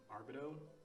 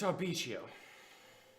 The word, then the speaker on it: Arbitio: His name was Arbido? You have a hard time pronouncing names. Always. Always. It's Arbitio.